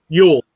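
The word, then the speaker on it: Jol: a couple weeks ago it's j-o-l but it's pronounced euro yule that's it yeah we did a crossover with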